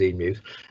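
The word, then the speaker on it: EAMUs: Yeah, I mean, the whole EMU process, that's how we pronounce it, is EMUs, will carry on as it is.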